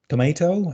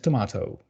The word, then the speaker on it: tomato: So, for example, schedule and schedule, tomato and tomato, and route and route.